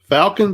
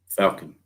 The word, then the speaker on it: Falcon: Rhymes with Talkin. Falcon boats not allowed on BPT?